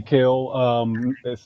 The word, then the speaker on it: Kel: here yeah yeah so people just call me Cale because is so easily mispronounced people are like or Kevin I'm